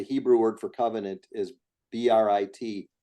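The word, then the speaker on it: ברית: covenant, the Hebrew word for covenant is BRIT. In Hebrew, it's pronounced Brit, but in English, it's Brit.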